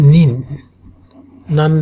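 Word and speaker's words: 何人: সো একটু carefully উচ্চারণ করা লাগবে, নান নেন। একটা হচ্ছে নেন, একটা হচ্ছে নিন। যদি নান নেন বলেন সেটা হচ্ছে কত বছর। নান নেন মানে কত বছর, আর নান নিন মানে কত পিপল।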